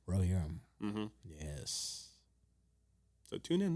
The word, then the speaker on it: Rohirrim: Rohirrim. Rohirrim.